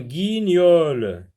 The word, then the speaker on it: guignol: Donc, G avec I, ça se lit Gui. Ni avec Ol, ça se lit Niol. Guignol, un guignol, une cigogne.